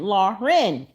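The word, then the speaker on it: Laryn: people every time because that's not how you pronounce her name her name is Lauren okay l a r y n laen but yeah you gota let it roll off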